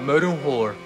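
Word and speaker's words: morin khuur: It's called Murunhor. Say it again. Murunhor. Murunhor? Murunhor. Murunhor? Like horn?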